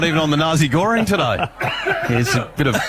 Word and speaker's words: nasi goreng: And he's had a trouble with nasi goreng. Is that how you say it? No, I said that wrong. Nasi goreng.